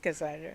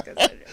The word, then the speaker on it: Cassandra: It's just Cassandra. It's just Cassandra. Cassandra.